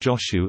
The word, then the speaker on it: Jōshū: Five koans in the collection derive from the sayings and doings of Zhaozhu Kongshan, transliterated as Chao Chu in Wade Giles and pronounced Joshu in Japanese.